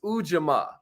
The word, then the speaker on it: ujamaa: which is cooperative economics cooperative economics ujamaa that's how you pronounce it ujma you know uh